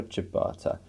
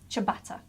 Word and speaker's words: ciabatta: lots of people yeah and chip goodbye so ciabatta I've been going with my gut feeling I